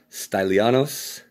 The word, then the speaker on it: Stylianos: So here is Esoteric Practice, Christian Meditation Exercises, compiled by the Direction Stylianos is how you say his first name. Atteshlis. I wouldn't know the Greek pronunciation.